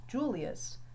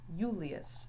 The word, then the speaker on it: Julius: When his name's written in Latin, it is not pronounced Julius, but Julius. So the I has more of a Y sound here.